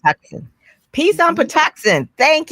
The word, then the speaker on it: Patuxent: I can't pronounce it. It's not Peace on the Potomac, but Peace on Patuxent. Patuxent.